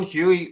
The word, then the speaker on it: Huey: I've got Huey with me. Is Huey the right pronunciation there?